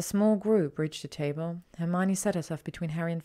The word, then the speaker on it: Hermione: How to correctly pronounce her name. "Hermione," she said slowly and clearly.